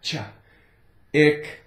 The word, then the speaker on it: chick: Okay, the C is silent, so we have the I, it, the K, k, chick, ick.